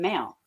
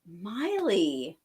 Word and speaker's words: Maile: do you say it it's like miley cyrus miley yeah i totally say